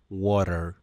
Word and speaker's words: water: Mientras que la pronunciación norteamericana lo pronuncia water, water, haciendo que la T suene como R, los británicos pronuncian water.